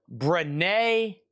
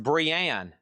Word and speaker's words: Brienne: Renee of Tarth. I don't know anything about that. $19.99. How much? This is just $19.99. Golly, Chad, just $19.99. You got that straight from Funko. It's pronounced Brienne.